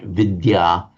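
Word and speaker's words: विद्या: So vidya the and the y pronounced separately in Sanskrit vidya and that's the one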